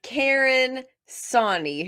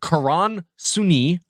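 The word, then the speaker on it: Karan Soni: I think that I'm mispronouncing everything. Dopinder, first of all. Second of all, his name is Karan Suni. Third of all, okay, all right. Third of all, it's Karan. So, how many things can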